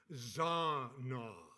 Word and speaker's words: zanah: I'll spell it Zanah, and it is pronounced Zana. Zana.